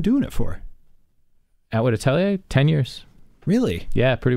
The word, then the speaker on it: atelier: everyone does yeah it's atelier it's like yeah it's a french word okay it's just like